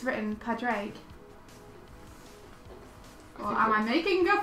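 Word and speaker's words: Pádraig: It's pronounced like that might be the spelling for Patrick. Oh, okay. So you're almost called Porrick.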